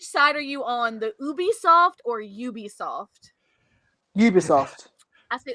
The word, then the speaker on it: Ubisoft: i i like to i like to pronounce it ubi ubisoft it's like it's like it's like so obi-wan rtk responded booby soft